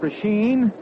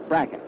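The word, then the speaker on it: Brecheen: Louis is Bracken. B-R-E-C-H-E-N. A lot of folks call it Prasheen, but he says that he and his family call it Bracken.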